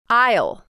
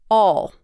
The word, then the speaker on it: I'll: You'll hear the dark L in all of these contractions. Repeat after me. I'll. Or sometimes you'll hear I'll pronounced as all.